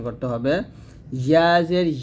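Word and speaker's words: ح: গুরুত্বপূর্ণ একটা হরফ হা দেখুন এই হা টা আমরা যে ভুলটা করি সেটা হচ্ছে হা এর মত উচ্চারণ করি তো সতর্ক থাকতে হবে এই হা টা যেন হা এর মত না হয় যেটা হচ্ছে হা চিকন করে বলতে হবে হা জবর হা দুই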